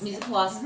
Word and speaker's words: mise en place: Mise en place, yeah.